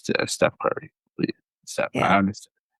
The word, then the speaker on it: Steph Curry: Yeah, I used to Stephen say Curry, Stephen. yeah. I used to say Stephen because like yeah, it's pronounced that, but you know it's Steve. It's Steph Curry.